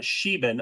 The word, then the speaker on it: Sheban: place known as the Baran Temple at the Sheban. So that's how you pronounce that, Sheban.